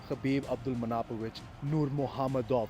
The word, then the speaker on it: Khabib Abdulmanapovich Nurmagomedov: number one and the greatest of all time, Khabib Abdulmanapovich Nurmagomedov. That's the correct way to pronounce his name.